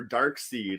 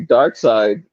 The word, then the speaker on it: Darkseid: It's like in Dark Side or Dark Seed. Like people like pronounce that shit differently too. But it's obviously Dark Side. It's only like it would only be seed if the I was before the E.